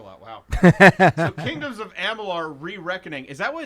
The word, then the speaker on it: Amalur: So Kingdoms of Amalur: Re-Reckoning, is that what it's actually called? Alamo. Yeah. What did I say? Amalar. It's Amalur.